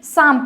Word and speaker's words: psalm: जैसे इसे हम क्या पढ़ेंगे चैट सेक्शंस में, आप इसे बताएं, PSALM शाम पढ़ते हैं। ओके, तो इसे हम साल में नहीं पढ़ेंगे।